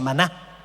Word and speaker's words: maná: palabra qué es esto significa o sea se pronuncia Maná Maná qué es esto y era como el